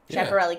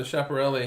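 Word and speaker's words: Schiaparelli: us pronouncing it wrong but chaparelli is named after a dude chaparrali crater well no chaparelli he studied Mars yeah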